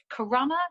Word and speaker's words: Corunna: And he died in the Battle of Corunna. Do you pronounce it, historian?